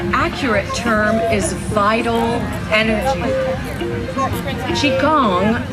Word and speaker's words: qigong: term is vital energy qigong sometimes pronounced chi kong is the science of